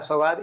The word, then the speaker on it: सौगात: अच्छा सौगात, इंडियन अपने नेम का मतलब भी बता दें, क्या मतलब है?